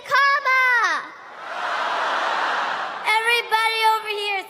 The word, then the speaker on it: Kamala: do you pronounce it first you say comma like a comma in a sentence then you say la like la la la la la put it